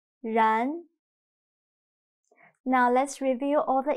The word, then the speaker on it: 然: But in Chinese, when pronouncing 然, your mouth is not round at all. It's a little bit stretched. 然.